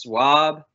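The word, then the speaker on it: SUAB: what is that so yes it is pronounced swab and that stands for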